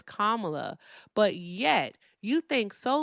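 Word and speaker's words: Kamala: And you just mispronounced the former vice president's name on purpose because you know that her name is Kamla, but yet you think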